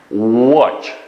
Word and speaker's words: watch: Watch. Okay, now what? Telaffuz qilganda what? O, mashkin tovush. O, kingsi.